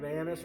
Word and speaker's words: anise: Again, I'm feeling the anise or anise, however you prefer to pronounce it.